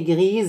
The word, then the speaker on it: gris: La clé est grise. Le mur est gris. S à la fin, mais il ne se prononce pas.